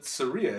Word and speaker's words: Saria: Saria, isn't it? Saria? I always read it as Sarah as a kid. I'm sorry. It's not Sarah.